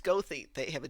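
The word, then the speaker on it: Goethe: It's pronounced Gothy. They have a G O E T H E. We're going to say all those letters.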